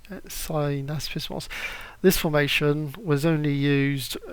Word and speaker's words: synaspismos: However, the Macedonians did have a third formation, Synapos, can't even pronounce it, the smaller one, and basically this formation, how is it pronounced? Synaspismos.